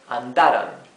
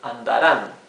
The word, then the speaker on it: andarán: If we don't add the tilde, here this would be read andaran, right? With the accent in this syllable. However, the accent should go in the last syllable, andaran, right?